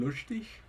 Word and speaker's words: lustig: The sh only happens on onsets of syllables. Yeah. Like student. Oh, wow. And that one would be a coda.